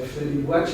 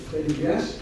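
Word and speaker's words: Freddy Buache: Según las palabras de Freddy Buach, que tienen en la hoja, probablemente lo van a pronunciar Freddy Buach, pero es Freddy Buach, en 2001, en retrospectiva.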